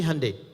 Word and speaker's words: Hyundai: sana bikin Honda sini Handai hyundaikan dibacanya Handai gitu kan sana Honda